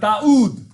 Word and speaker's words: Daud: David is not David, but Daud.